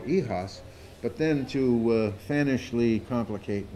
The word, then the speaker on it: YHOS: little bit of class, let's give it a French pronunciation. It's called YHOS, and it's my zine, and it'll be pronounced the way I say. So it's called YHOS.